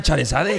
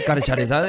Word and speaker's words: Charizard: Así como suena Charizard, Charizard, así tal cual. Pol, ¿cómo ha mentido? ¿Pol se da cuenta? Pol, ¿cómo ha mentido, tío? De verdad. Oye, Charizard, necesitas más autoridad en tus palabras.